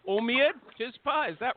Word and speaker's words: Omeid: We've got Blake Warner, and I don't know how to pronounce the other name. Omeid, Tizpa, is that right? You guys can talk it's now. Omeid. Omeid.